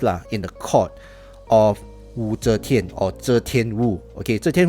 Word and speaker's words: Wu Zetian: Yeah, I pronounce that Wu Zetian, not Zetian Wu.